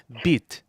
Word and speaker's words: bite: The French term for it is bite, pronounced beat.